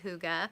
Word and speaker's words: hygge: heart hygge yarn and obviously it looks like Higgy but it's actually hygge I talked about the